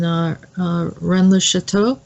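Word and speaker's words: Rennes-le-Château: and it's in that Mary Magdalene Church in Rennes le Chateau is that is that the right way to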